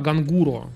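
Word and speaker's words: ガングロ: Так, короче, я вас наебал, не Гангара, а Гангуро называются эти девушки, которые вот эти все перекрашенные адские милированные блондинки с автозагаром, короче.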